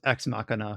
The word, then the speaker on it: X Machina: It's of course it's pronounced Ex Machina because it's supposed to be like Deus Ex Machina.